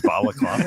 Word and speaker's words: balaclava: When I added that last syllable in there, I wondered, is that how you say balaclava?